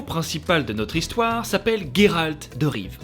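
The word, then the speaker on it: Geralt de Riv: de notre histoire s'appelle Géralt de rive avec un gu parce que c'est la prononciation d'origine ouais je me suis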